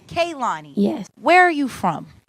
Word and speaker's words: Kehlani: hey how you doing so how do I pronounce your name it's Kaylani Kaylani yes where are you from I'm from North